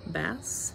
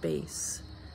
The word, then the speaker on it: bass: Today the words are bass and bass, B-A-S-S.